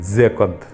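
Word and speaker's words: Joconde: জোকন্দ হচ্ছে ফরাসি উচ্চারণে জোকন্দ, জিয়াকান্দ মানে হ্যাপিনেস বা সুখ।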